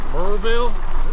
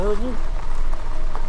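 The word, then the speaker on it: Maryville: If you live here, it's pronounced Merville. I don't know, Marvel. You just kind of slur it.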